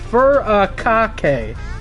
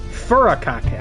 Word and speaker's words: furikake: How to pronounce that? Furikake. Furikake.